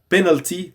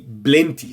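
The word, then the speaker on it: بلنتي: say pen penalty okay instead of penalty they say plenty okay they say blenty sorry blenty okay and of Of course, plenty it means a lot in English but people used to say it wrong. Okay. So it means penalty the English word and people try to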